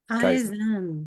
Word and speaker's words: Kaizen: Did I get the pronunciation right? Kaizen.